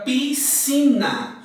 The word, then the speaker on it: piscina: Eu tenho a palavra piscina. Quando eu tenho piscina, nós pronunciamos o SC com o som de C. Piscina.